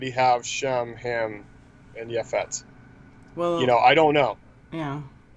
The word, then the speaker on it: Japheth: And Noah was 500 years old, and Noah brought forth Shem, Ham, and Japheth.